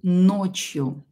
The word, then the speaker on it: ночью: ночью ночью уот из ночью ночью пишем ночью ночью ударение на букву о ночью до ночью и